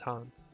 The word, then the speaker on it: Khan: like i'm pretty sure khan one is actually pronounced han ours is the soil